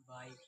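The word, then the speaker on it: bike: शब्द के लास्ट में ई आए तो ई ई साइलेंट साइलेंट होता है। ठीक, अब यहाँ पे लास्ट में ई आया साइलेंट साइलेंट रहेगी।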